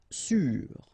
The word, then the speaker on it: sûr: Sûr. Sûr. Okay, even if you've got this accent circonflexe, you don't pronounce it, so you get the same pronunciation, sûr and sûr.